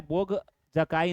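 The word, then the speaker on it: Boğazköy: Next देखें यहां पर गोघा जकाई इं्रिप्शन तो यह नाम आपको प्रोनाउंसिएशन इसमें में ध्यान देना है तो बोध ये क्या है? बोग जकाई इं्रिप्शन।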